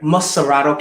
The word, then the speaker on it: Montserrado: TUKPAH, may I ask you, what made you run for senator of MONTSERRODO? Am I pronouncing that right? MONTSERRODO County.